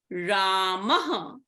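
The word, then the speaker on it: रामः: For example, in the word Ramaha, the vowel, the swara before the Visarga is the vowel a. So the pronunciation of the Visarga will be a h plus a ha sound in the end.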